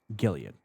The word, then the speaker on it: Gilead: up a word that I can count it's pronounced Gilead Gilead Gilead Gilead ah close enough tell me tell